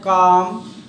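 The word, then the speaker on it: calm: सी ए एल एम यहां L silent है काम फिर क्वाइट क्वाट मतलब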